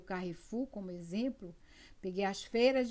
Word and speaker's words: Carrefour: é nem cai a sua pronúncia no francesa é Carrefour mas nós nós a portuguesa vamos Carrefour muito bem e aí